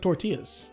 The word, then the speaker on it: tortilla: really good tortillas and just for posterity i'll say it correctly once so that i don't get a bunch of comments saying about how i'm not saying tortillas correctly tortilla so you gotta roll the r you gotta i hope